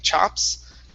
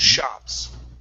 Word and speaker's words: shops: sounding a little bit like you were saying chops okay like okay it was really quick try